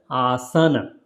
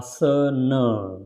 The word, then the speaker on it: Asana: why you will see a lot of people will saying it Asana but it is not Asana it is a uh sir nerve so that's why because